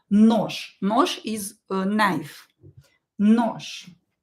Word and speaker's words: нож: We have je at the end of the word, and we will pronounce it as sha letter. Нож.